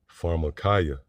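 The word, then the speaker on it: pharmakeia: marchia farada markaya yeah so that would be the pronunciation in the greek for that word sorcery pharmacaya which there were actually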